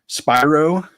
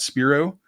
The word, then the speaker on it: Spiro: some material on Alex Spyro which I learned that it's actually pronounced Spyro not Spiro um I I kind